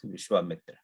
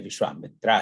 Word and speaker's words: Vishwamitra: So it's a Vishwamitra, but when use our this American British English accent, we end up saying Vishwamitra. But it's not really Vishwamitra, it's Vishwamitra.